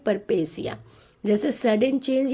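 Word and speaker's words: peripeteia: लेकिन इसका प्रोनंसिएशन होता है परपेसिया।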